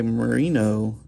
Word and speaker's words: Marino: guy named Robert J Marino and I'm I think that's how you say it like Dan Marino the football the Dolphins quarterback anyway uh he's a